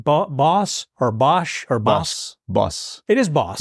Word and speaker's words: Bosch: Boss. It is Boss. In Netherlands, yes. They would say Boss.